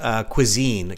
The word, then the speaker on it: cuisine: a little bit earlier so Cuisine it comes from French given the chance to